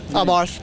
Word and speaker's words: Abarth: Abarth. Abarth? Yeah, well, there's, in the U.S., some people, you know, they call it Abarth and Abarth and all that, but I think the Italians actually pronounce it Abarth.